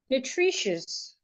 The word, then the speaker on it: nutritious: We can also have a word like nutritious, nutritious, nutritious. So just like we had in delicious, nutritious as well, the schwa is in the last syllable, nutritious.